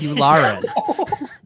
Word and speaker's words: Yularen: It's Yularen.